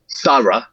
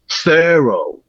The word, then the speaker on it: thorough: Um it would include the word thorough in an English accent in England, right? Thorough. But in in an American accent, it's more likely that would that first syllable in thorough would be in a different set. It would probably be in a nurse set.